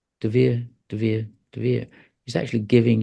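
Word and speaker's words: de Vere: is, as I just said to you, the DeVere. That's how it's pronounced.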